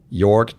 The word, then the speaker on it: Jorg: five six one and my email address is York dot mast at am dot JLL comm and my first name is spelled jo r g so York is probably